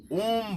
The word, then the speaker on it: ओम: देखिए इसमें भ्रामरी, पहले नादानुसंधान में है, पहले अ का उच्चारण होगा 3 बार, उसके बाद उ का उच्चारण होगा, उसके बाद म का उच्चारण होगा, जिसको अकारा, मकारा, उकारा, ये तीनों को मिलाकर ओम बनता है।